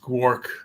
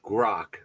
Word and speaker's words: Grok: I'm going to think real quick what I can think of a question to ask Gork. How do you say it again? Gark? Gark? I would go with Grok.